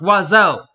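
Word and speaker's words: oiseau: are seven of them it's pronounced wazow and yes I will die mad about it wazo hits everybody owl in the French outfit and manages to only pronounce with two gosh darn syllables got advised coming out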